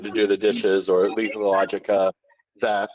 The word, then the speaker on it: Lethologica: This is, pronounce it for me one more time before I butcher it. Lethologica.